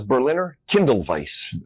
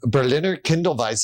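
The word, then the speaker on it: Berliner Kindl Weisse: herb it's so and how do you say this beer again we call this Berliner Kindle Vice Berliner Kindle Vice I'm going to end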